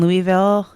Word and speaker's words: Louisville: Then Louisville.